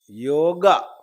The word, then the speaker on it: യോഗം: ഇന്ന പ്രത്യേകമാണ് അത് അകാരാന്തമാണ് അകാരാന്തം ആയതുകൊണ്ട് പുല്ലിംഗത്തിൽ യോഗഹ എന്നും നപുംസകലിംഗത്തിൽ യോഗം എന്നുമേ വരൂ എന്നാൽ ഉത്തരഭാരതത്തിൽ അകാരാന്തത്തെ ഉച്ചരിക്കുന്ന